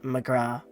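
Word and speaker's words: ghrá: irish for my love one dialect would pronounce it as mcgraw oh mcgraw i've heard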